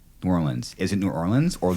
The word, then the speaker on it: New Orleans: in Louisiana in Louisiana don't say nolens yeah say it New Orleans or New Orleans okay don't make the new the whole one word uh how could I